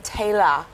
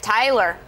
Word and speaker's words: Taylor: especially love it because they all pronounce my name tayor here oh yes okay instead of oh I'm used to hearing it Tyler that's how I'm used